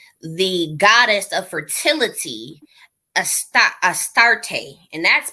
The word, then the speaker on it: Astarte: be attributed to the goddess of fertility esta astarte and that's pronounced or spelled a-s-t-a-r-t-e so you know they